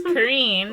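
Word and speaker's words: Carreen: a daughter named karine c-a-r-r-e-e-n oh it's spelt terribly but it is a green it's kareem wow and the headstrong 16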